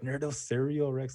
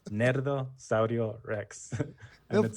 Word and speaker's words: Nerdo Saurio Rex: i know that no people always get confused about how you pronounce it they're always like nerdo cereal rex i'm like you say it with a spanish accent nerdo saurio rex figure it out yeah